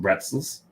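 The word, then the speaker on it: Brezel: We did get some pretzels. Nice. So the Germans spell it with a B, but their B sounds like a P, so it's pretzels. Pretzels.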